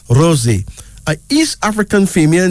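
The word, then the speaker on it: Rozi: word meaning sustenance then there's Rosie Rosie r-o-z-i pronounced Rosie is African female name derived from the English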